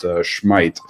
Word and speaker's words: Smith: It looks like the Swedish central defensive linchpin, whose name is spelled Smith but pronounced Schmeidt, will be unable to give it a go.